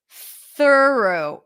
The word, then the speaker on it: thorough: is the difference so the first word is one syllable th HR tense U through right the second word has an additional syllable so it's thorough thorough it has an o